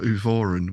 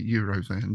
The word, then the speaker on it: Euvoran: readings for them, but they said Euvoran. Euvoran. So I'm going for Euvoran, which takes away the temptation to say Eurovan, doesn't it?